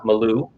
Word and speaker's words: Mailloux: ashley i used to call her ashley uh malu right and it's ashley mayu and and derek your name i'll be honest